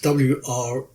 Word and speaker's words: Wrekin: But when I was there, I found out that the Wrekin, which is spelt W-R-E-K-I-N, but is actually pronounced locally as Wrekin, was an inspiration for Middle-earth.